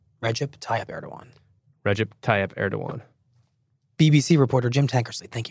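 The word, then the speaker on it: Recep Tayyip Erdoğan: Recep Tayyip Erdogan. Yeah, I always have pronouncers. Recep Tayyip Erdogan. Recep Tayyip Erdogan.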